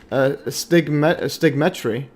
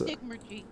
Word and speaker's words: Stigmergy: Amaterasu Solar is a multidisciplined foundational economist, social engineer, and layman physicist, also studying psychology, emergence, fractals, stigmetry. That's Stigmergy.